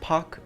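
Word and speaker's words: 박: name is park jimin i think it's actually pronounced pok in korea but i might sound stupid saying that so i'm just going to say park koreans let me know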